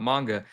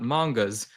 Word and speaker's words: manga: where we talked about manga, and later I'll talk about why I'm calling it manga now and not mangas. I was corrected. I didn't know that there's no S when it's plural.